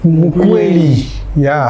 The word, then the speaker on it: Mukweli: Olivier Ngoma, je ne sais pas si je veux bien prononcer le titre, c'est Mukweli. Mukweli, c'est ça? Voilà.